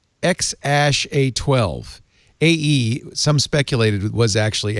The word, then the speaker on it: X AE A-12: A-E is pronounced Ash, so obviously the kid's name is Ash, right?